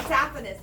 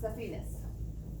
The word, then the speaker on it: saphenous: The saphenous veins, or they're sometimes pronounced saphenous.